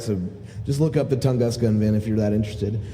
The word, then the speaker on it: Tunguska: This last release, and let me see, Tunguska.